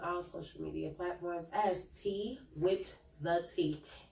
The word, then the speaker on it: Tee Wit Tha Tea: I am on all social media platforms as Tee Wit Tha Tea. It is spelled just like it sounds. TeeWittThea.